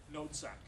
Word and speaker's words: noodzaak: So if I write this down in Dutch, I can't write anything down here, but I write down noot, N-O-O-T, S-A-A-K, noodzaak. Yeah, that's how you say it.